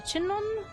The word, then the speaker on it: chignon: In a chignon? Oh, excuse me. I'm thinking it's like a filet mignon. Just the G is silent.